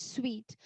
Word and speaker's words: suite: This word you know how to pronounce. Sweet. This is also called sweet.